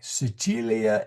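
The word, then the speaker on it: Sicilia: Uh the C here is a ch sound.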